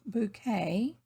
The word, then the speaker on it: Bucket: appearances with the pretentious mrs bucket pronounced bouquet mrs bouquet her long-suffering husband and